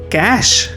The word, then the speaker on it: cache: Cash. Cash. Clear the cash. Say it like clear the cash.